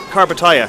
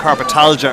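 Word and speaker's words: Karpatalya: How would you pronounce it again? Carpatalia. Carpatalia. Yeah. Sorry. I was calling it Carpatalgia earlier, and then carpet this, and I was having a mare.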